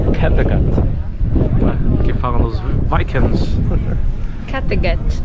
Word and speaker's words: Kattegat: Kattegat. Kattegat. Ok, sueca. Eu tô pronunciando corretamente. Mas você tá pronunciando tipo em inglês, né, Sara? É. Eu tô pronunciando em sueco.